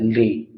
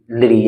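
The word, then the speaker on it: ऌ: और इसका जो उच्चारण होता है वो दंत्य से होता है, लिरी, लिरी, यानी कि हमारी जीभ जो है वो दांतों से टच करेगी तब इसका उच्चारण होता है, लिरी।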